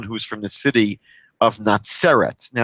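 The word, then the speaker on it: נצרת: that point, but the the Hebrew word is spelled completely differently, meaning the city Nateret would be spelled with it sadi in the English you might write it as TZ. Um Nateret, which is not Nazeret.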